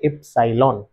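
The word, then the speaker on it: epsilon: symbol এটাকে বলে এফসাইলন এই সিম্বল টাকে বলে ই পি এস আই এল ও এন এফসিলন উচ্চারণ হচ্ছে এফসাইলন এদের ফর্মুলা না জানলে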